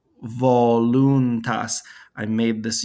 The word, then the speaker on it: voluntas: ecclesiastical pronunciation fiat voluntas notice here i said wallentas here i said voluntas i made this u